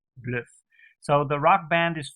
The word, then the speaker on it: Bløf: So this makes the pronunciation the same as a U in Dutch, Bløf.